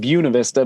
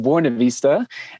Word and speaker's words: Buena Vista: town in the mountains called we call it buena vista but it's properly uh pronounced buena vista and uh so it's 8 000 feet above